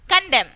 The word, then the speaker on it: condemn: Next here, column, condemn. Column, condemn. We are not pronouncing N here.